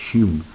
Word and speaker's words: Home: the Garden of Eden his name is actually pronounced hum like the pacifists that wrote about all of the hum issues and they have a